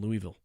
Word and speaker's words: Louisville: S the S is like not even there. It's like Louisville.